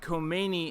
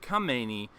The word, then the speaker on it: Khamenei: tweeted the wrong guy he said the wrong name he said Khomeini instead of come meny apparently and somebody picked